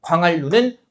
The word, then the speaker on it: 광한루: 광활루는 고유 명사잖아요. 그죠? 그래서 얘는 광한이라는 말이 따로 존재한다, 안 한다? 안 한다. 그러면 얘는 유음화가 일어나서 발음이 어떻게 되는 거예요? 광활루 이렇게 되는 거죠.